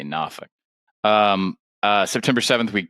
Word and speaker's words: Norfolk: You say Norfolk.